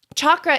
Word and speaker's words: chakra: of background about chakras chakra is the indian pronunciation it's like the ch in chocolate chakra but a lot of times people just say shocker and that's fine too